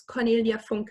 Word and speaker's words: Cornelia Funke: in cut by German the German way pronounce its cornelia funke ER I know that a